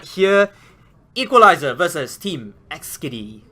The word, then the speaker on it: Eksdi: Equalizer versus Team Eksdi, if I pronounce it correctly. Eksdi. XD. Okay, XD.